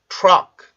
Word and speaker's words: truck: 지금 T 발음이 R 발음 바로 직전에 있고 여기에 강세가 있죠. 그러면 T 발음이 R 발음의 영향을 받게 되는데 이때 그러면 T가 입술이 같이 나오면서 발음이 되겠죠. 그러면 tur, tur, tur 이렇게 발음을 해줘요. 자, 한번 소리 내볼게요. truck, truck, truck, truck, truck, truck. 네, 요렇게 발음이 돼요.